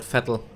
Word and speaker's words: Vettel: In German it's actually called Vettel.